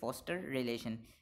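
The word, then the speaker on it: foster: ठीक है, फॉस्टर रिलेशन, British English के अंदर इसको प्रोनाउंस करेंगे फॉस्टर रिलेशन, जो यहाँ पे फॉस्टर का जो आर है वो प्रोनाउंस होगा फॉस्टर रिलेशन, ठीक है।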